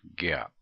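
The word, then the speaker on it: GAAP: come up with some generally accepted accounting principles pronounced that gap and gap is has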